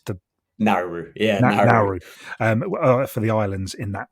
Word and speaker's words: Nauru: He says, what impact will the appointment of Dave Kitson for I hadn't checked how to pronounce the Nauru. Yeah, Nauru.